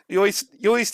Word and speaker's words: Uist: It should be noted, of course, on this article that the Scots that was how do you pronounce UISED? Uist in this article was written by a body that hasn't a good grip on the line.